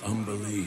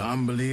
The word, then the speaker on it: Umberlee: What do you know of Umberlee, Astarion? Oh, lots. Rhymes with undersea, for one thing.